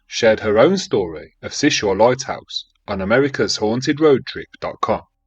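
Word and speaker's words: Seul Choix: a lot the easiest way I know to pronounce it is sis sure she told me after getting that cleared up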